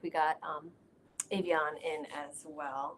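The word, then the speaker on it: Avión: How do you pronounce that brand? Avion, Yeah, Avion.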